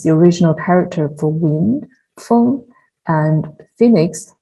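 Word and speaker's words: 風: original character for wind, feng, and phoenix, feng, were used interchangeably and are pronounced similarly.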